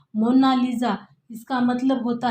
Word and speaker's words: Mona Lisa: मोना लीजा कहता है लेकिन इटालियन मिर्ची correct pronunciation of मोना लीजा इसका मतलब होता है